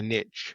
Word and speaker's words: niche: CTOs are in their niche? And I'm using the North American pronunciation of niche there by the way.